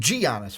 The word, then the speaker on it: Giannis: And you mean Giannis, right? That hard G. I messed up. I forgot it was the Y sound.